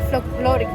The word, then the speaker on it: folclórico: We're gonna go see the ballet folclórico.